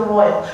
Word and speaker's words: Royal: But growing up, I do remember the Royal, pronounced like Roy and Al for Big Gay Pyrotechnics.